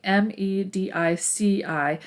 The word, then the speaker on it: Medici: they were known as the medici family m-e-d-i-c-i every now and then you'll hear it pronounced medici okay giovanni de medici